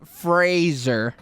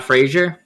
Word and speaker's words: Fraser: well but like everyone let's say his name right Fraser oh not Frasier no it's Fraser he actually he was